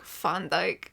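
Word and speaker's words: Van Dijk: Van Djk, but with the accent, it's pronounced like Fondike. And the way this narrator says it, it sounds like Mrs. Fun Dyke.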